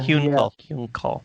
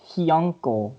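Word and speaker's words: Hyunckel: Yeah, Hyunkal. I always thought it was pronounced Hyunkel, like uncle, but like he.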